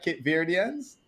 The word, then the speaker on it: Cape Verdeans: How the Cape Verdeans? Am I saying it right? Cape Verdeans?